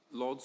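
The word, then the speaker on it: Łódź: So, uh, I'm from, uh, Lods or Wood if you prefer, if you, uh, go with the Polish pronunciation, um, in Poland and, uh, generally I'm an argumentation scholar.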